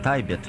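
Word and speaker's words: Tibet: Этот альбом спродюсировал известный музыкант и философ, и поэт Дэвид Тибет. Точнее, его правильно говорить Дэвид Тайбет. Ну, мне удобнее и приятнее говорить Дэвид Тибет.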